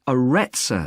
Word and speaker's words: Aretza: got a rather strange name it's called the aretza center that's spelled a double r e t s a